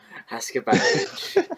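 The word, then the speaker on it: Haksabanović: Haskabanovic, Samuelson, and like Paul Merson.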